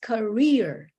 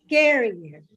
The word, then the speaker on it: career: It's not career, it's career. So the stress is in the second syllable, rear, not care, year. No, it's k. The first syllable is just like a whisper, and you say it loudly in the second syllable, career. So we say career, not carrier.